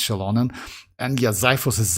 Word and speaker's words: Xilonen: I used to pronounce the X in Xilonen. Yeah, that's yeah, we pronounced, by the way, like back then we pronounced that like Xilonen, if you remember, guys, because we didn't know how to pronounce that. But yes, officially it's Xilonen, and yeah, Xiphos is Xiphos.